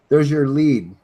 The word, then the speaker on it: Lead: And look, there's your lead right there, or lead. Well, it's pronounced lead. Okay, lead. L-E-E-D is how it's pronounced.